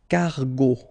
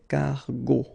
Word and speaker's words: cargo: So if you check, it was the second letter that we stated previously, so you will pronounce the word cargo, okay, cargo, go, cargo, all right.